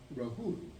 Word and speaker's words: Rahula: name for me, of Rahula. And of course, Rahula is the way in Sanskrit that they pronounce Rahula. So, in Sri Lanka, Rahula is a common name, but it's pronounced Rahul in Hindi.